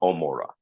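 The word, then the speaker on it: עמורה: If you look at the modern Hebrew, it's not Gomorrah, it's Omorah. right? It's just not even pronounced. But we call it Gomorrah because it did have a ayim at the beginning of it.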